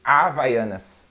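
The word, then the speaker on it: Havaianas: uh horse house yeah we don't we don't pronounce so we say avayanes yes right this brand how do you pronounce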